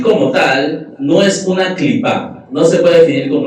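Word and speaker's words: קליפה: es decir, la palabra clipá, diga conmigo clipá. Clipá. Clipá se escribe así como se escucha, lo puede escribir con Q, yo lo escribo con K, o con C, se escribe clipá.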